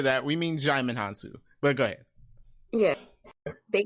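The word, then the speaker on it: Djimon Hounsou: He ended up in I don't know how to pronounce this guy's name. Digimon Han Solo. Him. Jaimin Hansu.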